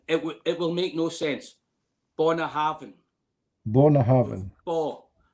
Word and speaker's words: Bunnahabhain: BUNNAHABHAIN. BUNNAHABHAIN. Bo. It's not a bu. It's bo. It's not bu, it's BUNNAHABHAIN.